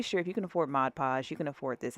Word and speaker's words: Mod Podge: Let me make sure I say it right, Mod Podge. Um and y'all guys ate me up in the comments, honey, by like mis- mispronouncing that word. Maj Podge, Mod Podge, pat a patage.